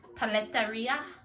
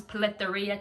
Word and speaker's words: Paleteria: You know, I think it's supposed to, you know, I think they're from Mexico, you know, paletas are from like Mexico, so I think they're supposed to have a Spanish, you know, a Spanish kind of twist to their name.